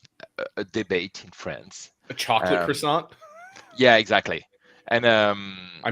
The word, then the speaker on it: croissant: at the end yeah croissant yeah by the way in French you don't you don't say this T at the end you just say yeah yeah so Jim croissant huh yeah no cha